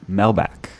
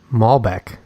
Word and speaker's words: Malbec: It's a Melback. Malbec. You're saying it wrong.